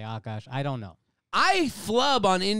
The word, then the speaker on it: Akaash: I want you all to go follow Akash. He's so funny. Akash or Akash? I say Akash, but I honestly don't even really know, because I know Indians who say Akash. I know Indians who say Akash.